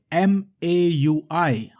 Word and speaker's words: MAUI: interface also known as dotnet m a ui how do i pronounce it maui maui let's say dotnet microsoft